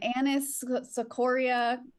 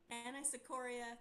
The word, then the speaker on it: anisocoria: If I miss you, it's in Anis Secoria, Colodocalictus, and Ramadoma Mama Limis. The actual pronunciations, Abby. Anisocoria, choledocholithiasis, and rhabdomyolysis. Nailed it.